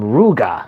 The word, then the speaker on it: Ryuga: like in dark king they don't call ryuga ryuga they call him ruga like they don't pronounce